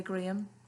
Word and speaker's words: graham: Mum had packed me a cheese sandwich with graham crackers. Have a look at what those are. So it's spelt like how we would say graham. And I think they say them as graham crackers, so graham crackers, and a juice box.